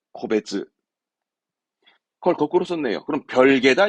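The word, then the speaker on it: 個別: 네, 코베츠.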